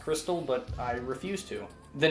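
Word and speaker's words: Xtal: the first track stall which is apparently supposed to be pronounced crystal but i refuse to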